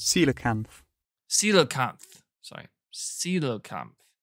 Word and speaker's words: coelacanth: see how it sounds coelacanth ceiling kanth sorry ceelo camp see you later coelacanth okay cool that's how you say it it's a fish all